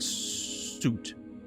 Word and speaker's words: soot: Suit pronounced like is not pronounced like suit. More like foot.